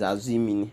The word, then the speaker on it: Asimini: Ọkpara, that name is Asimini. Asimini. Asimili. You know, in Bonny, in their dialect, in the Ubani dialect, it's called Mini. Mini.